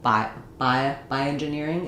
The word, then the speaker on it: bioengineering: Also happens on words like bioengineering. I'll just hear bio. I won't hear the IO, bioengineering.